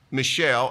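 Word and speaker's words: Mishael: from Judah Daniel hananiah Michelle and that is the way you pronounce it but it is a guy's name and Azariah the chief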